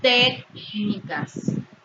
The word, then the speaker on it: técnicas: Por ejemplo, la palabra técnicas, comunícaselo, tienen su sílaba tónica en la antepenúltima sílaba y por ello deben llevar tilde siempre.